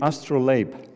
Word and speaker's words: astrolabe: and in strasbourg called the astral labe or astral lab depending on how you want to pronounce it this was used by